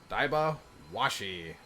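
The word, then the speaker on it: Daibawashi: all right dive off washi wind el elemental pronounced dybo washy the name means horse killer hawk so I've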